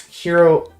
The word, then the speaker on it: Hiro: Uh, I don't know how I'm cuz like it's pronounced Hiro Aane, but the game isn't pronouncing the name correctly, but uh I now